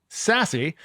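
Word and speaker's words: SASE: Now, this involves an acronym called SAS E, which is pronounced Sassy.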